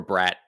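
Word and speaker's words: Bratt: Um, or Brat as I'm told it's uh pronounced.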